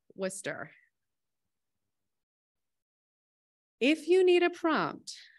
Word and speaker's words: Worcester: morning Worcester is pronounced Worcester if you need a prompt the easiest way to remember how to say Worcester is to think of Worcestershire sauce and drop the shear